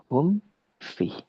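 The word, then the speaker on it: هم في: Hum fi. Jangan dinampak dia hum fi atau hum fi atau misalnya hum fi. Ini tidak boleh. Lantas bagaimana cara bacanya? Hum fi, hum fi. Selesaikan mimnya baru ke fa.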